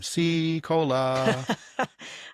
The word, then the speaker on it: Sicola: It's like Pepsi Cola without the pep.